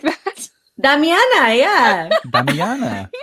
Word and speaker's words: damiana: flower yeah and uh is it pronounced dummy on a tea like that damiana yeah he said dummy